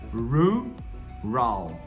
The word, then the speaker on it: rural: Então, olha só, como é que eu pronuncio essa palavra? Rural, rural, rural, rural. Realmente embola a língua, porque são dois r e um L no final lá na frente.